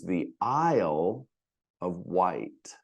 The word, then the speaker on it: Isle of Wight: Now, the next term I find troubling a little bit to pronounce, and you will too, I suppose, the Isle of Wight.